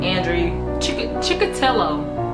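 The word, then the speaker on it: Andrei Chikatilo: It looks like, at first when you look at it, you want to say Andrew, but it's not Andrew. It's Andrew with an I instead of a W. Okay, Andrew Chikatilo.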